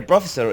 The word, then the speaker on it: professor: professor the professor professor so the stress is on the second syllable so you want to make that syllable clearer louder longer and higher pitched vibe in hot and